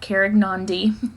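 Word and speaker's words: Karegnondi: I did look up how to pronounce that, Carignan.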